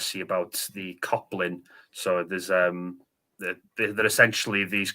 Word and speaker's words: Coblyn: I think that if you Google Coplin, there's a lot of different interpretations. But if you spell it out, it's Coblyn. So very similar to goblin.